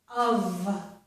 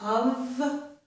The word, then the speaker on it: of: This is the word of. It ends in the letter F, but it makes a V sound, the voiced sound, okay? So this is of with a V sound.